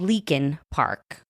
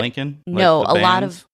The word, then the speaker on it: Leakin Park: Like you'll say Lincoln Park, but it's Leakin Park. It's like leaking, like if you punch someone in the eye and you leave them leaking.